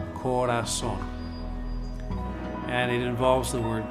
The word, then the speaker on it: Korason: So, this method that has evolved and I call the Corazon method. Corazon is actually a homonym, meaning it sounds the same as the Spanish word for heart, but it's spelled differently for marketing purposes.